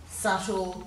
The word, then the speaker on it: subtle: In these bottom ones, we've got a silent B in debt, doubt, subtle, succumb, and in yacht, we've got